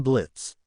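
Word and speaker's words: Blitzø: Hello, I'm Blitz. The O is silent.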